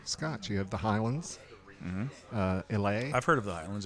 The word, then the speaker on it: Isla: Well, she's Isla. Isla. But it is the silent S sound, like island.